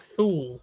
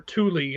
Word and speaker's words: Thule: novel um it's called Shadows of Thule or Thule I guess is how they actually pronounced it um the guy says